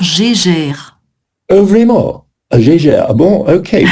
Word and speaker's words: Geiger: Alors, ouais, en français, on dirait un compteur Gégère.